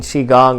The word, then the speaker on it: qigong: or maybe this is your first time doing qigong and this is the first time you've heard it pronounced correctly so either way you can experience